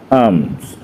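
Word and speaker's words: palms: আয়ত্তনা কঠিন আবার দেখো এল প্লাস এম এর পর থাকলে বলছে পরপর থাকলে ভাওয়েল না থাকলে তাহলে কি হবে এল অনুচ্চারিত হবে কাম পামস পামস দেখো এখানে এল টা উচ্চারণ করছি না এল আর এম যদি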